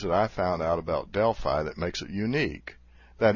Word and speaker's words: Delphi: Is it Delphi or Delphi? Well, I fell into the Delphi camp myself until my boss heard me pronounce it and corrected me. It's pronounced Delphi, he said.